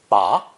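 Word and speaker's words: 拔: means the number eight ba pronounced with a rising tone ba means to pull out or extract ba with a low dipping tone ba means to grasp something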